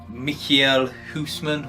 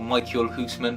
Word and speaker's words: Michiel Huisman: The main sort of character is a chap off Game of Thrones called Michiel Huisman, or Michael Huisman, depending on how you pronounce it.